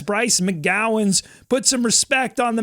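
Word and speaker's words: Bryce McGowens: But I think it's part of their job to know the names and how to pronounce. You get a guide at the beginning of every game. It's Bryce McGowan's.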